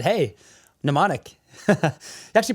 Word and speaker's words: mnemonic: just walked into my life and said, "Hey, mnemonic." You actually pronounced it right too.